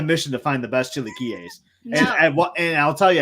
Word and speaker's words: chilaquiles: I can't pronounce these chilaquiles.